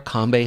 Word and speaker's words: Kambe: It's Combe. So, Combe. There you go.